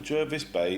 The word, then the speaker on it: Jervis Bay: to point out that jervis bay is pronounced the way it is written with an er at the start not an r it was named after